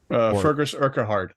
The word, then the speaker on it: Fergus Urquhart: Fergus Urquhart. Fergus Urquhart. That's how I would pronounce Shrek.